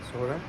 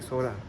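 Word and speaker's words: Sohra: का नाम सोरा है क्योंकि एसओ एच आर ए क्योंकि इसके लोकलाइट्स अभी भी इसको यही बुलाते हैं सोरा एंड ब्रिटिशर्स ने आके इसको चेरापूंजी में चेंज कर दिया क्योंकि अपेरेंटली उनको ये नाम प्रोनाउंस करना नहीं आता था बट इट्स so easy सोरा एंड तो आज मेरा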